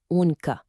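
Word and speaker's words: عنق: The Arabic word for neck, which is pronounced "oonq".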